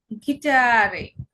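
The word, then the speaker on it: Gitarre: জি কে আমরা গে উচ্চারণ করব। যেমন গিটারে।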